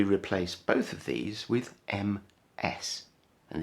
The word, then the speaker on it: Ms: both of these with m s and this is pronounced ms so we could write